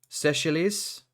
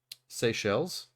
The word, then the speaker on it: Seychelles: Seychelles.